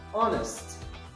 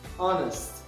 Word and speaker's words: honest: the words not pronounced honest honest we don't pronounce h doubt doubt without beef